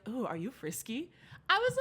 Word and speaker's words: Friske: do no it's okay no it's frisky no one knows frisky oh my God no I have people who have known me for five plus years don't know how to pronounce my last they say Frisk Frisk well then it was